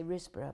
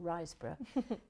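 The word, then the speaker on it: Riseborough: uh Andrea risborough um I keep want to say rbra but I was pronouncing it wrong risborough um yeah it's a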